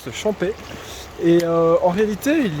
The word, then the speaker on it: Champex: Alors ici je suis à Champais, donc on écrit Champais avec un X mais on ne prononce pas Champex, on prononce Champais.